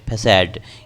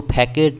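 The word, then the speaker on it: façade: ये फसाद है, फैसाड। इसको फैकेट नहीं, फैसाड पढ़ेंगे, फसाड। फैसाड मतलब किसी चीज़ का फेस, मास्क, फ्रंट, यानी कि मेन चेहरा को हम फैसेड बोलेंगे। FECADE, फैसेड।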